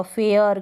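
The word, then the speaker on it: fare: मतलब कि ई जो है इसको हम प्रोनाउंस नहीं करेंगे, लेकिन इससे पहले वाला जो लेटर आएगा उसको हम थोड़ा लंबा बोलेंगे। उसका उच्चारण, उसका प्रोनाउंसिएशन लंबा होगा, लॉन्ग होगा। एफ को फ, ए और आर को र, फेयर।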